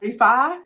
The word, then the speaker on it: REFY: REFY, is how you say the brand, I think.